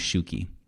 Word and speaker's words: Shuki: s-h-u-k-i and she said oh like a shoe key you know like a key for shoe and then she moved